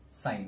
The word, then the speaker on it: sine: is abbreviated as assign so we still pronounce it as sine not sin okay so sine of